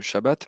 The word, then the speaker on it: shabbat: Enfin, pour moi, la réponse est évidente, mais hm oui, je crois que j'ai j'ai dit sabbat au lieu de shabbat.